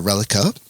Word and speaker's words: Reliqa: it was the first time i've heard uh relica which i thought it was pronounced malika you got the pr you got